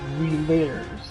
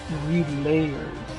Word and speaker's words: Relayers: Not relayers. Relayers. Okay. You gotta get 3 syllables in there.